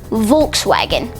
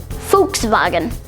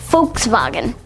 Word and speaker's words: Volkswagen: The way that most people would pronounce it is Volkswagen. However, the official German pronunciation is actually Volkswagen. Volkswagen.